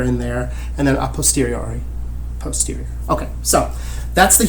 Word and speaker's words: a posteriori: But you should hear the word posterior in there, right? Like the posterior, something that is following after something else, right?